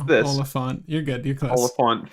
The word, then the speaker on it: Oliphant: frick do you pronounce this? Oliphant.